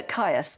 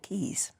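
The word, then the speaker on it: Caius: you would say this it's either K or Keys it's the Roman name meaning to Rejoice so it's spelled c a i u s and I guess it's up to you how you say it but I think in um in sort of classical terms you'd call it Keys yeah oh that's nice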